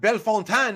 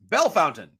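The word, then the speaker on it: Bellefontaine: that one and then it's not belfantine it's bell fountain so so bold duke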